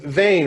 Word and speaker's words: Zane: all right we're live so your name is Zane right correct that pronounced that right correct yep alright so vein